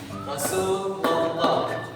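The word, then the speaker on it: رسول الله: Sekali lagi, Rasulullah. Kenapa dibaca tebal? Karena pada lafaz Allah di sini sebelumnya didahului huruf fathah.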